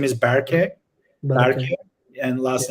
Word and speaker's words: Berke: job it's uh my first name is berkey and last name so overall is um it's